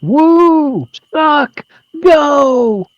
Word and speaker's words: Woo Suk Go: I think you're pronouncing it wrong. It's woo, suck, go.